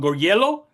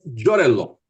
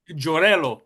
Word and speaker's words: Giorello: um Gorgello. Did I pronounce that right? It's Jorello. Jorello.